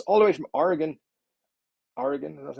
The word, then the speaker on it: Oregon: for joining us all the way from oregon oregon that's how you say it um not good at pronouncing the state names by the way apparently